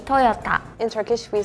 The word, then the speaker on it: Toyota: We say Toyota with the T. Maybe it was me when I pronounced it. I heard more like a D sound.